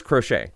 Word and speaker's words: Crochet: long time uh but anyway uh it is crochet so crochet Garrett crochet uh let's continue on looking at matchups what